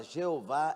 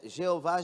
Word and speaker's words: Jeová: Primeiro, a palavra Jeová é uma pronúncia nossa, criada por causa de Jehová, não é? Porque no hebraico não tem J.